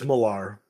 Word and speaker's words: Millar: good man and so Mark Miller or how do you say it it's malar malar that's his own name wrong okay Mark Millar